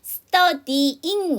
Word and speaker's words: studying: S 사운드 뒤에 무성음이니까 study 하지 마시고요. study, 쌍자음, studying, studying 이렇게 발음하셔야 돼요. studying 이렇게 하게 되면 Y 발음을 안 하시는 거예요. 묵음이 아닌데 왜 발음을 안 하세요? studying 이렇게 해주셔야 되겠죠.